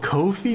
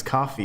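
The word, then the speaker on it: Ko-fi: said there is no it rhymes with the site it says there is no fee on Kofi and and people were like wait it's called Kofi not Co I thought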